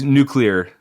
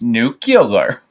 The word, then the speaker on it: nuclear: some exactly I know is there a correct way for sure yeah it's it's nuclear okay yeah one of my favorite Simpsons moments is when Homer like really condescendingly tells someone it's pronounced nucular yeah yeah that sounds yeah it's it's like a bunch of consonants jammed in there and you want to put a vowel and you know break it up